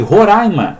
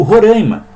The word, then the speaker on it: Roraima: Número 1, estado de Roraima ou Roraima. Não tem nenhum erro aí, tá? Tanto faz pronunciar de um jeito ou de outro, porque ninguém ainda parece que chegou num consenso.